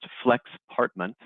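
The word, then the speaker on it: Flexpartment: the slide and so Flex partment you pronounced Flex partment Flex apartment uh it's a blend of flexible and apartment and really it's a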